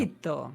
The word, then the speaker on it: appetito: dans la mesure où normalement l'accentuation sur la dernière syllabe, sur l'avant-dernière syllabe se fait surtout si on a 2 consonnes, sauf que appetito a un seul T et un seul T devant le I et devant le T.